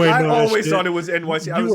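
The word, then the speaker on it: Enyce: Niggas wearing Eniche sweater vests at a pickup game, Apparently that's pronounced NYC. Yes. How did you guys not know that? What? We talked about this. Yes. We did. Yes, it's pronounced Eniche is NYC.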